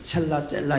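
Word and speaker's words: צלע: 첼라 이렇게 발음이 되는데 이게 그냥 옆구리 갈빗대로도 이제 그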